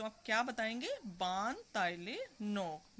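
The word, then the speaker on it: Baan Talae Nok: बान ताइले नोक। मेरे साथ बोलिए आप भी, बान ताइले नोक। फिर से देखिए, बान ताइले नोक। Spelling BAANTALAE एंड NOK।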